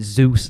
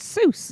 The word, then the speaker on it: Seuss: Oh, he always complains that I pronounce it Zeus landing because it's Seuss.